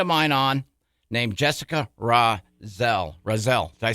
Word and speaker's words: Rosel: got a friend of mine on named Jessica Rosel. Rosel. Did I say that right, Jessica? Rosel, yeah. Rosel, sorry, and you and I spent 2 minutes going over the pronunciation of your last name.